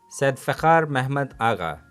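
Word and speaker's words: Sedefkâr Mehmed Ağa: Sir, the chief architect was Sadefkhar Mehmed Agha. I hope I pronounced his name correctly. Yes, Said Fakhar Mehmed Agha.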